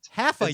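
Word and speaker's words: Hafa: It's spelled H-A-F-A, H-A-F-A spot. Half-a, yo. Half, H-A-L. Yeah, it's the whole spot. It's like have a spot, but half a spot. Yeah, it's half a spot.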